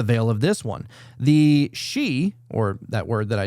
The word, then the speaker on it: Sidhe: So it looks like Sidhe, but so it looks like Sidhe, but it's pronounced she.